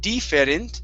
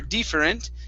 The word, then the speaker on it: different: word different right here so instead of deferent or different okay use a short i at the beginning different different okay very